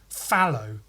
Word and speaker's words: phthalo: Fallow, blue, or fallow. Apparently it's just fallow. Then that makes the T and H completely worthless.